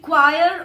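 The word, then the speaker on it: choir: ऐसे ही मैं अगर और बोलूं तो मैं बोल सकती हूँ क्वायर ऑफ सिंगर्स. क्वायर ऑफ सिंगर्स मैं यहां लिख देती हूँ CHIOR. और इसे हम प्रोनाउंस क्या करेंगे? क्वायर ऑफ सिंगर्स.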